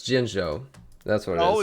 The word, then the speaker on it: Jinzhou: Jinzhou. It's Jinzhou. That's what it is. Oh, it's called I mispronounced it, but that's the area.